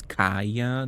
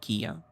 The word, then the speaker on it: Kaya: It's Kaya, not Kia.